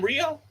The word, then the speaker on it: Rhio: Wait, is this the same Rio?